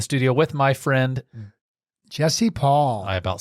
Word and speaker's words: Poll: iron County real estate Paul sounds like P A it's spelled p o l l and and my wife says it the best it's Paul rhymes with doll and I often ask